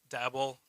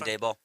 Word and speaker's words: Daboll: And then of the coaches they've listed so far that we're like interested in, I think Dabble, is that how you say it? Dabble? The guy, Oh, Brian Daboll.